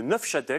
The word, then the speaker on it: Neufchâtel: vedette ce soir c'est le 9 chatel il faut prononcer comme ça le plus ancien fromages